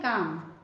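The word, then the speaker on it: calm: काम। L silent है।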